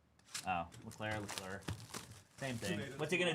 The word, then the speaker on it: Leclerc: You said Leclerc. Oh, Leclerc.